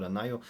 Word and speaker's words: NIO: in the case of Neo or Nao Neo I think is the pronunciation and then we have